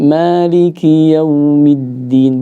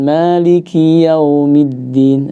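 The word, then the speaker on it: مالك يوم الدين: Jadi Maliki yaumiddin, bukan Maliki yaumiddin. Nah, bukan yau tapi yau. Dan sedikit ngalir ya. Iya. Jangan sampai Maliki, jangan sampai juga kepanjangan Ustaz. Maliki yaumiddin. Nah, ini mungkin ada yang membacanya menjadi mat ya. Padahal di sini tidak ada hukum mat ketika wasal. Ya, di sini tetap dibaca dengan lin saja.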